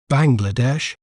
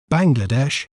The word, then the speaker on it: Bangladesh: do we say its name correctly we may pronounce it as Bangladesh Bangladesh ban GLA Desh Bangladesh B Bangladesh is rich